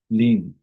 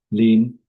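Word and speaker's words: limb: लीन एल आई एम बी is silent लीन हिम big sick.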